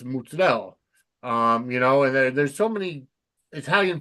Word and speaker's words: mozzarella: It's not mozzarella, it's mozzarella.